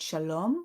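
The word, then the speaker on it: שלום: right to left so the phonetic stress we have in the word Shalom goes on the second syllable it's shalom not Shalom the same goes with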